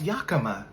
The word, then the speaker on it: Yakima: Oh, it's pronounced Yakima.